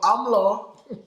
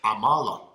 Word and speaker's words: amala: called amla amla yes is that english pronunciation for it i don't know what english is not english you know you have to change your language learn how to speak it is amala okay so toby what